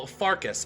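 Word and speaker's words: Farkas: So, is one of these places literally called No, Farcus.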